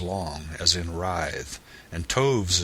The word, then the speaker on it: toves: as in writhed and Toves is pronounced so as to rhyme with groves again the first Oh